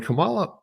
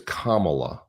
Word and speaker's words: Kamala: history so Jee when Camala and and I'm always saying her name wrong it's it's it's Kamala okay but I'll just